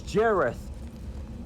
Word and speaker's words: Jareth: Oh wait, no, I'm sorry, I pronounced his name wrong. It's Jareth.